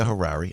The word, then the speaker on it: Harary: fully represent everybody that's that's the right Rebecca Harare I'm pronouncing that properly oh yeah sorry for New